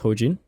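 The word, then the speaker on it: Hojean: very popular artist of course his name is hojin right that's spelled h-o-j-e-a-nojin and his style of music is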